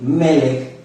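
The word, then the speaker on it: מלך: rinda esa palabra melec en el hebreo Rey melek se escribe con la letra me la letra l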